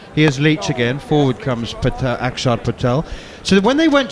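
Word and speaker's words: Axar: Which is why it's pronounced Akshar as opposed to Aksar.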